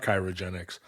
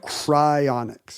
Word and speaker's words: cryonics: chirogenic and you said no it's not chirogenic it's chonic cryonics cryonics yeah so I there's